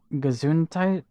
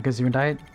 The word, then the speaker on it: Gesundheit: Oh, is that Gesundheit?